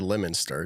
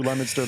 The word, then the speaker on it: Leominster: It's said Leominster. It's spelled funky because it's New England.